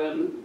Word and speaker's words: Ai: Remember that right after the battle of Jericho, they went against a small city called, so the pronunciation is spelled Ai, but the pronunciation would be I. Just as I.